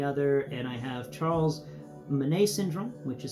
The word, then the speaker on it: Bonnet: and I have Charles Manet syndrome, which is spelled bonnet, by the way. Yeah, the French pronounce bonnet Manet.